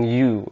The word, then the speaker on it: ewe: Ini bacanya EWE, dibaca dengan U dalam bahasa Inggris untuk domba betina.